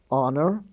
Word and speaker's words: honor: is it we spell a show you uh honor he's on the honor roll h-o-n-o-r honest h-o-n-e-s-t the h is silent there ghost g-h-o-s gastly g-h-a-s-t-l-y rime r-h-y-m-e